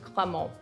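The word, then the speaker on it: Cramant: They sound pretty similar, right? So this is a little tricky, but Crémant, which is spelled C-R-E with the accent aigu, M-A-N-T, is very different than Crémant, which is spelled C-R-A-M-A-N-T.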